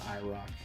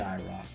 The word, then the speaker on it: IROC: to mention is that it's not iroc it's the iraq we've been saying it wrong this whole time and ken squire always says it properly welcome back to the